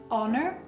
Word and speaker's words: honor: Ci sono solo 5 eccezioni in inglese di parole che iniziano con la H dove la H è muta e sono our, allora, honest, honor, heir and heiress e i loro derivati.